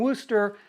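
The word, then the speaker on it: Worcester: use Wooster sauce saying Wooster I still would like to know Great Britain why the proper pronunciation is woster not Worster shirt just looking at the spelling doesn't make any sense but doesn't matter so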